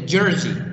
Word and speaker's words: jersey: this word is a jersey this here pronounced as z sound guys not s not sas so don't